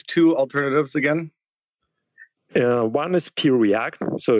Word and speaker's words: Preact: One is Preact, so it's just the letter P, like Peter, Preact.